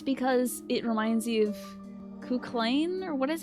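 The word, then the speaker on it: Cú Chulainn: It's because it reminds you of Kuklain, or what is? How do you say his name? I never knew how to say that in Persona 4 and 5. Because it's not Kuchulain.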